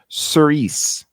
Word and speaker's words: Cirice: It's pronounced Cirice.